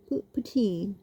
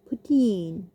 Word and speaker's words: poutine: Poutine. Okay, we say poutine. I'm going to try the Canadian way. Poutine, like that.